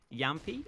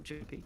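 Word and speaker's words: jamppi: I know that the Finns don't like to pronounce their J's, I don't think.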